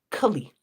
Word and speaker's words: Kali: And then there's short A, short I, Kali.